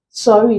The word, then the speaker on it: sorry: You can see that while the word worry belongs here as worry, the word sorry doesn't fall here. Sorry is actually pronounced as sorry. It contains the O sound, the short O sounds.